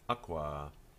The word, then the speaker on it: aqua: the water, then it's aqua. Now we don't normally put that line over the A, I'm just doing it here to show you that it's a long A sound, aqua.